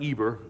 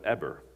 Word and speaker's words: Eber: It's not Eber, it's pronounced Eber, I learned.